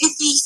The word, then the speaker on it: Iffy: So I think it's Iffy from Canada. Yeah, you're really right. Yeah, that's the name, the pronunciation. That's it. Perfect.